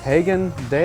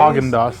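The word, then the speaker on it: Häagen-Dazs: not the name how do you say this Hagen days hogendos hogendos I said I botched that for sure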